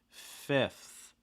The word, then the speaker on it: fifth: about alright already also watch out for that i again short i sound not a long eye so it's not fifth it's fifth fifth okay uh we have a